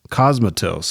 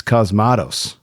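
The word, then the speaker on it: Cosmatos: I was saying it wrong in previous pods. Cosmos. I thought it was Cosmos. It's Cosmados.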